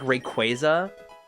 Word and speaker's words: Rayquaza: It's like Rayquaza.